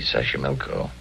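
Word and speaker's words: Xochimilco: Sashimilko. Okay. So you pronounce it better than I do. It's easy, Sashimilko.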